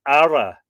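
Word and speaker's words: aire: classes a person belonging to these was an ARA AI r e or chief Kings have been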